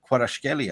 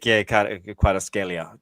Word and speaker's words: Kvaratskhelia: Or there's been also reports saying regarding Kvaratskhelia as well.